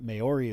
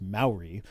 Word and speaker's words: Maori: bunch of Maori or no I'm saying that wrong Maori is how you say that mayori is how I read it but it's pronounced Maori um but there I